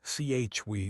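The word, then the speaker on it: chui: Chewy pronounced like chwe with a forceful exhale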